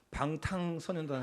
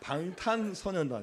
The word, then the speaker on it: 방탄소년단: 분은 방탄 선언 대단합니다 제가 이후에 그때 발음을 잘 못 하고 방탕 선단 해가지고 실세는 데요 방탄소년단 입니다 7명의 남자들로 구성된 g